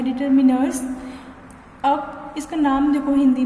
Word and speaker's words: determiners: इसको हिंदी में बोलते हैं निर्धारक, कुछ उसको डिटरमाइनर्स भी बोलते हैं, लेकिन जो इसके प्रोनाउंसिएशन है वो है डिटरमिनर्स।